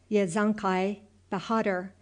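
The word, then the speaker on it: Yesukai Bahadur: It sounded something like this. Yankai bahhatter with the accent on the last syllable bahhatter and the a sounded like a in hark.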